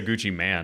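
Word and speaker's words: Gucci Mane: yeah Gucci man go I can't even say Gucci man it makes me feel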